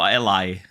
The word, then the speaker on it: Ally: But hey, luckily we get the Ally coming soon. Yeah. Do we pronounce actually? How do we pronounce it? Ellie or Ally?